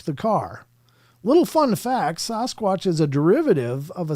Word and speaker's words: Sasquatch: Someone who's a member should ask why he still says sauce squatch. He spells it out sauce and then squatch. Not Sasquatch.